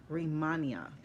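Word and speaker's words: Rehmannia: it out r-e-h-m-a-n-n-i-a and looks like it's rimania the ingredients work together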